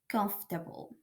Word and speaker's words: comfortable: So for instance, here we have comfortable, comfortable. So so we have here the omission of O and R. So it doesn't sound comfortable.